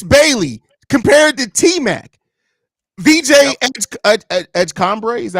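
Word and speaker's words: VJ Edgecombe: VJ Edgecombre, is that how you pronounce his name? Edgecombre, yep.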